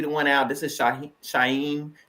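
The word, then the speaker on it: Shauhin: one out this is Shah shyen that's the way to pronounce his name y'all he gave us a tutorial over the weekend sh soft h a soft H or no h at all he said people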